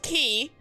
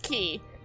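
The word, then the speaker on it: χ: here's the thing so this X yeah that's pronounced key because it's it's it's it's supposed to be like a fancy fancy fancy X it's so it's pronounced key and then we have after that Unchained key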